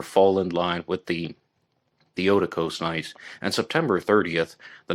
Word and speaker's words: Theotokos: And the murders occurred on different nights in the Eastern Orthodox calendar, the Theotokos nights. Excuse me for mispronouncing it in the past. I used to call them Theotokos, but I heard an interview with Randy Williams where he stated it's pronounced Theotokos.